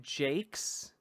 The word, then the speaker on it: Jacques: Wait, annoying fact, Brian Jacques pronounced his last name Jakes?